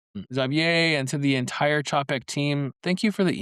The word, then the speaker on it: Czapek: that says, hey, this is how you properly pronounce that French word, you dum-dum. To Xavier and to the entire CHAP-eck team, thank you for the email.